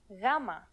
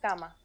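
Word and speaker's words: γάμμα: exact english equivalent most people treat it like a g but it is softer more like the y sound in you or young here's the uppercase form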